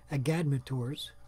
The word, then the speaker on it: Agadmator: If you want an expert analytical view of this game, I highly recommend Agadmator's. I don't know how you pronounce it.